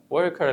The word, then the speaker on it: worker: لو اخدت بالك ان انا نطقت الار خفيفة. ليه؟ لان احنا عندنا قاعدة انا بسميها او هي ممكن تكون اسمها circled R. طب ايه هي الار دي؟ ان احنا لما يكون قبلها one of the vowels A E I O U، اي حاجه من الخمسه دول قبل الار خفف الار شويه.